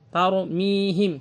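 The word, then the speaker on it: ترميهم: Kemudian huruf ra dalam keadaan sukun dan sebelumnya difathahkan, ada huruf yang difathahkan. Tar. Jadi bukan tar. Tar itu biasa, tarmihim. Tapi tarmihim tebal pengucapannya.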